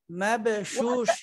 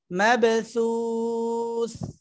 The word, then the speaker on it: مبثوث: يكون الناس كالفراش المبثوث মাবশুশ শিন না তো দুইটাই থা জিহ্বার আগা দাঁতের আগার সঙ্গে লাগবে মাবসুস مبثوث থাটা সুন্দর করে হয় না শিনের মতো হয়ে যায় সা উচ্চারণের জন্য জিহ্বার যে আগাটা সেটা সামনের উপরের দুই দাঁতের আগার সঙ্গে লাগাতে হবে অন্যথায় হবেই না মাবসু সু সু مبثوث